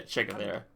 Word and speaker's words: Che Guevara: Basically, Che Guevara, or however you just pronounced it. You said it right, yeah, Che Guevara.